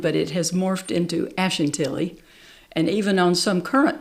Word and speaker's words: Ashantilly: Simons there's a street Ashen Tilly Ash we tend to put a little bit more emphasis on that Ash Ashen Tilly now real quick with